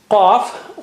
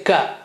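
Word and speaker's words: قَ: Let us practice Qaf with Fatha. Qa, okay? Don't say Ka and don't say Kha. Kha is not, Kha is different, Qa is different, Ka is different. We'll see that. But here, please try to repeat, try to practice it. It is from inside edge of the tongue touching behind uvula.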